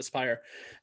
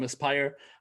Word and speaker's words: Aspyr: It's Aspyr, or Aspyr. I think it's pronounced Aspyr.